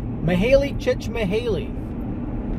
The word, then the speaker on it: Mihaly Csikszentmihalyi: Today's loaf comes from my friend whose name I butchered last time, but in the interim I've learned how to pronounce it correctly. Mihaly Csikszentmihalyi, the author of Flow.